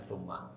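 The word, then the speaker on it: ثُمَّ: Bahkan dalam cara bacanya juga beda antara fa dan tsumma. Dalam tumma ada tasydidnya, ada ghunahnya, ada ditahannya. gambaran bahwa ini ada jedakma.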